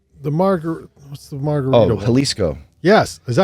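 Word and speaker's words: Jalisco: margar what's the margarit halisco yes is that how you say it halisco with an axe ax J yeah um we have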